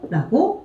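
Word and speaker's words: 共: 자, 둘 다 음독이 똑같아요. 쿄라고 읽어주시면 돼요. 이거는 그러면 요 발음이겠죠. 요, 쿄, 이렇게 발음을 하겠죠. 쿄라고 발음을 하는데 옆에 한번 보시겠어요? 여자는 아이를 좋아해. 이 좋아할 호자는 음독이 지금 어떻게 들어가 있냐면 코라고 들어가 있죠. 이거는 오 발음이에요. 코라고 읽어주시면 돼요. 쿄, 코 발음이 다르죠? 두 개 비교해 주시면 돼요.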